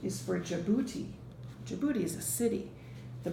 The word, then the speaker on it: Djibouti: That's another funny word because it starts with a D, J-I-B, but you say that first part is Djibouti.